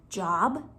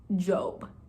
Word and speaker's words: Job: we're gonna meet a man named job it's spelled like job but it's pronounced job job is the main character in a super